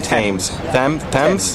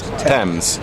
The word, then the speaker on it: Thames: And how you pronounce the river again? I keep saying Thames. Thames. See, you always ask a native person how to pronounce things properly.